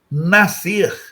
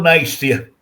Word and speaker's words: nascer: Nascer. SC é C. Ah, mas eu falo nascer. É, é uma pronúncia inadequada. O SC é o que nós chamamos de dígrafo, ou seja, são duas letras valendo por um fonema só, o fonema C.